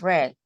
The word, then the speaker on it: read: just the pronunciation right it's red like the color similar so we have